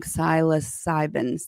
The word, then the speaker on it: psilocybin: Psilocybin.